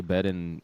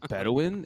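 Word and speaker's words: Bedouin: I'm like can you show me a picture of them cuz I don't think you're pronouncing it right. I was like Bedawin and he's like yeah them.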